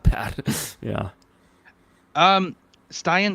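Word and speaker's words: Stian: Um, Styen Soulberg or Steen, I'm not too sure how to pronounce the first name, but Norwegian defenseman. I'm a big fan of him. You'd think I knew would know how to pronounce his name properly, but what do you make of him? Yeah. So, just for your own future reference, uh, I I believe it is Steen.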